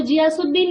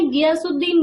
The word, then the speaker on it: गियासुद्दीन: Yes Prachi आपने सही बताया बेटा, बट आपकी प्रोनाउंसिएशन गलत है, वो जियासुद्दीन नहीं है, गियासुद्दीन बलबन है, ठीक है बेटा।